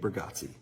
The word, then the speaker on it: Bargatze: Nate Burggatsi.